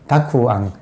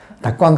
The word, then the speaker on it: 택암: 그래서 이 대목에서 이게 제가 가끔 가다가 여러분한테 소개하는데 택암, 일본의 택암 선사, 택암을 발음을 택은 닭구고 암은 앙이에요. 그러니까 닭구앙, 닭광 선사가 그 당대 최고의